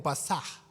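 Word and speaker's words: פסח: menos acá en español se leería como pasaj porque tiene una H al final eh que significa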